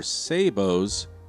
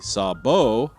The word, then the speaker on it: sabot: If you're destined from Smarter Everyday, it's sabo. If you're Canadian, it might be sabot. And if you're from the south, it might be sabot. And I've even heard other pronunciations. And I don't think there's one right way of pronouncing the word.